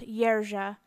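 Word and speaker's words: Jerzy: it number six is Jersey but in Polish it it would be pronounced yera and it's a form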